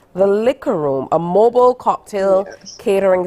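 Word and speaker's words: Licc'er: we have with us shanana MIRS of the liquor room 9 and is pronounced l i c c apostrophe e r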